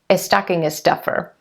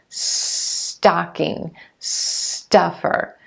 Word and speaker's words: stocking stuffer: what's called an appendices your tendency might be to say is stucking a stuffer is stocking a stuffer because s and another consonant or s blends don't happen at the beginning of words in your native language so you want to make sure you're going straight into that S sound and the T together stocking stocking stuffer stuffer make